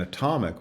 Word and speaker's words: atomic: You can see the similar sort of thing in the contrast between atom, which has an a in the first syllable, and atomic, which has the schwa in the first syllable.